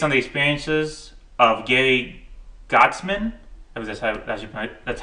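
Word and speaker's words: Goetzman: film is based on the experiences of getting godsmen I was just that's how you pronounce his name uh g-o-e-t-t-z-m-a-n he's a producer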